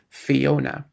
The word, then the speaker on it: Fiona: accent that tells us that this is supposed to be pronounced Fiona.